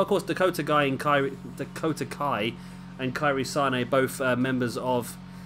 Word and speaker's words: Kairi Sane: I keep calling it Kairi Sane because I'm a football fan, and I know you've got Mane, you've got Sane, who plays for Man City as well. So I'm just pronouncing that based on the footballers. But I believe from watching the Mae Young Classic, her name's actually Kairi Sane.